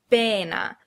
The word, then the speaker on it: pena: Here are the transcriptions for the Italian word pena, one with spaces, one without. Notice that the stress is on the first syllable, pena, and you know that because of the apostrophe before the first syllable.